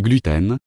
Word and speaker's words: gluten: latin et signifie coll en règle générale la première syllabe est accentuée c'est à dire le u et non le e de la deuxième syllabe selon les scientifiques les